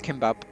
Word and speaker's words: gimbap: pronounced as kimbap, which is a Korean dish from cooked rice